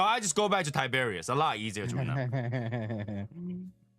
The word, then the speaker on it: Tiberius: I just I've been calling him Tibus and I just remember I just remember last time that he actually pronounced it Tiberius.